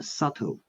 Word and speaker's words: subtle: And next uh uh subtle is silent. Subtle. Yeah. Next one. B. B is silent.